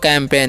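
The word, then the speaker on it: campaign: आगे लिखा हुआ नेक्स्ट जो हमारा वर्ड है लिखा हुआ कैंपेन। इसे हम क्या पढ़ते हैं? कैंपेन। ठीक है, यहाँ पर भी जी साइलेंट है।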